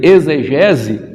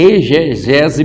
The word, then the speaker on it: exegese: Por incrível que pareça, a gente se pronuncia muitas das vezes aí exegese, mas ela não é, porque ela vem do expor, então ali esse X ele não vai ter o som de dizer, não, é exegese bíblica, e a gente